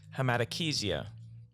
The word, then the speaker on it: hematochezia: It's actually pronounced hematochezia.